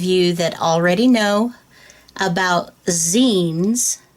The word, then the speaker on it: zine: I'm sure there are many of you that already know about zines. That's spelled Z-I-N-E, and it's the back part of magazine.